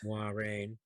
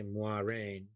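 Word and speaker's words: Moiraine: introduction of land and lorraine except for land's mispronunciation of mwah rain he's been traveling with her for 20 years he should have learned how to say moirene we'll just call it a borderland accent for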